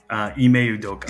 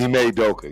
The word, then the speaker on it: Ime Udoka: It's a hard name to pronounce. You're talking about, right? Ime Udoka. Ime Udoka.